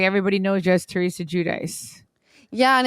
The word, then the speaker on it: Giudice: Giudice is more Italian. Giudice is the American way.